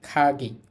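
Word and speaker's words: かぎ: খাসা খাসা মানে ছাতা এখানে এই যে কাগি না বলে এটাকে আমরা বলতে পারি খাগি খ এর মত কায়ে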